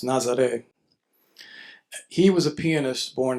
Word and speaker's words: Nazareth: But Ernesto Nazaré, um, it looks like Nazareth, but it's pronounced Nazaré.